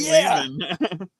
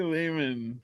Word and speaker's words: Lehman: Ari Lehman. Ari Lehman rhymes with demon.